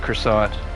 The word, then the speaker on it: croissant: But we're still just going to go with croissant. Sounds good to me. Happy Friday, brother. And people got the whiskey out. Wow. In French we don't pronounce the tea.